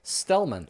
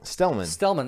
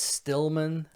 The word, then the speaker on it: Stellman: I understand if you think it's Stillman Yeah. instead of Stellman.